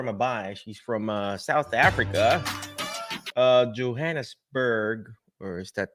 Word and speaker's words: Johannesburg: She's from South Africa, Johannesburg, or is that how you say it? Yeah, Johannesburg.